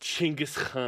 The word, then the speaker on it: Genghis Khan: yeah, it's actually pronounced Genghis Khan. Oh my gosh, look at you. How did you know that? Because I've talked to a Mongolian about it.